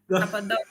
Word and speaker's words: Cappadocia: Yes, I like the accent, like yes, because I think I spoke like Italian, cia, Cappadocia. Yeah, Yes, like pizza Cappadocia.